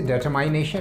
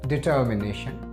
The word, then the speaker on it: determination: इसे determination नहीं पढ़ा जाता है, इसे पढ़ा जाता है determination, determination and determination.